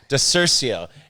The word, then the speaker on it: DiCiurcio: DiCiurcio.